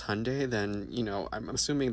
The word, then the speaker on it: Hyundai: Because Hyundai, pronounced like Sunday, not Hyendai like you're saying, is a Korean company.